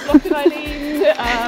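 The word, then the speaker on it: Loch an Eilein: Loch and Eileen. That's what I would have said. Yeah, come on, Eileen. However you want to pronounce it, really, but the Gaelic pronunciation is Loch and Yellen.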